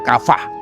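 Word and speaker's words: קָוָה: Kata menantikan Tuhan dalam bahasa Ibrani kata yang dipakai adalah kafa. Bacanya kafah.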